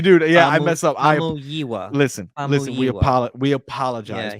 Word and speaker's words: Famuyiwa: Uh It's Rick Famuyiwa. Famuyiwa. Okay. Famuyiwa. Oh, see, now I'm messing up. See, dude, yeah, I mess up. Famuyiwa.